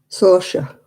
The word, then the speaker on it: Saoirse: And people didn't know how to spell it. I'm sure it's Saoirse.